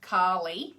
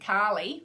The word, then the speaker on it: Kali: So thank you, Karli. And why do I say Karli? Because instead of Carly in my Australian accent, Karli, mate, because I've been taught